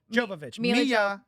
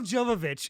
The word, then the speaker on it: Jovovich: Jovovich. Mila Jovovich. It's Mila Jovovich.